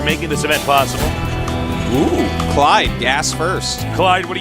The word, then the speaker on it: Clide: Rhymes with Tide. GSL Clide.